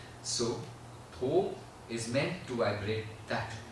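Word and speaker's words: THOT: So, this thing we are going to do is the word T-H-O-T. But it's that last T is silent. It's like Tho. Okay, when you do the Tho, the tongue, you should notice the tongue.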